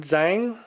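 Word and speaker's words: Zhang: Marine F mahu China Mountain Zang I think it's pronounced this is a little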